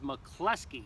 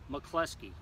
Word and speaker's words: MacCloskey: It is MacCloskey, just like in The Godfather, the lieutenant that got shot and the other guy that got killed, MacCloskey.